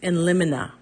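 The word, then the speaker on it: in limine: discussion on how to pronounce this some say lemony some say lonina Webster's Dictionary proper pronunciation is in lonina so that's the one I'm going with now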